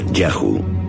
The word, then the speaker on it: YHW: Los textos egipcios dicen que uno de los lugares donde los Shasu vivían se llamaba YHW, probablemente pronunciado Yahu, seguramente el nombre de su dios protector.